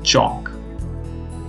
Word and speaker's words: chalk: Try to pronounce these words without pronouncing the sound of L. Salmon, palm, puff, chalk, talk.